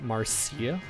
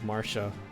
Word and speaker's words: Marcia: for Faye I think I'd probably pronounce her name as like Marcia instead of Marsha but I'm pretty sure I guess the official way to say her name out is is Marsha according to Faye Marcia sounds pretty nice